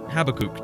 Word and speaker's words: Habakkuk: Have you ever heard the name Habakkuk? Or Habakkuk, depends on who you talk to about how you pronounce this one.